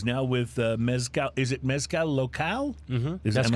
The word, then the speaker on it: Mezcal Local: Is it Mezcal Local? Mm-hmm. Am correct. I pronouncing it correctly?